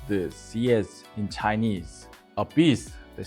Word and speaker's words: xiezhi: It's usually written in katakana rather than kanji, pronounced CS in Chinese, a beast that symbolizes justice, law, and fire prevention in Korea.